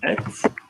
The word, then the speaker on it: êtes: example, the word vous êtes, okay, As far as you're concerned, as English speakers learning French, I just want you to think of it as the short one, vous êtes.